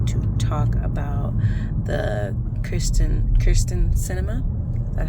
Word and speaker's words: Kyrsten Sinema: am here today to talk about the christian kirsten cinema that's how you say her name um issue